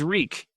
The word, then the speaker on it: Reek: he died at Winterfell my name is reek he had to remember his name it rhymes with freak Tyrion the selesori Quran